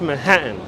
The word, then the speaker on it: Manhattan: with w-y-a-w-k york accent it is pronounced manhattan with the short t and that's why i